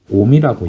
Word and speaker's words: ohm: 자, 이렇게 하면은 그냥 오메가가 아니라 이제 저항의 단위는 이걸 옴이라고 읽어.